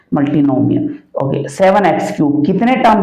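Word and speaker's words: multinomial: Term, 4 term है तो मल्टीमोनियल, मल्टीनोमियल। देखो कभी कभार गलत भी प्रोनाउंस हो जाता है, मल्टीनोमियल।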